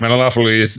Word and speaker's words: Menelaus: We watched Troy recently, and everyone, I don't think anyone could pronounce any of the names, so they Yeah. just basically slurred every. Menelaus. It's Menelaus.